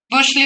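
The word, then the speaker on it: Bütschli: तो इसलिए उन्होंने क्लासिफाई किया था सुज एंड बुर्स्ली, बुशली बोलते हैं, साइलेंट रहता है, ठीक है।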